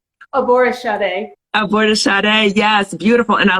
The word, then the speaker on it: Aborisade: Aborisade.